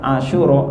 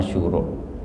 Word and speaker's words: Asyura: Jadi yang betul adalah asyura gitu ya. Bukan asyura tapi asyura.